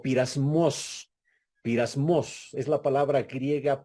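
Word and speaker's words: πειρασμός: utiliza para pruebas es del griego pirasmos se escribe peirasmos peirasmos Así es como se escribe esa palabra Y esa palabra puede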